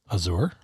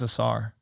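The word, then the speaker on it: Ausar: the much better shooter how do you think it's pronounced Azure no I think it's a Tsar okay and the highlights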